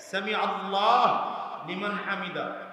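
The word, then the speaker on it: سمع الله لمن حمده: হামিদা চারোটা আলাদা আলাদা শব্দ সামি আল্লাহু হামিদা উচ্চারণ হবে সামি আল্লাহু লিমান হামিদা সামি আল্লাহু লিমান হামিদা একসাথে বললে উচ্চারণটা এমন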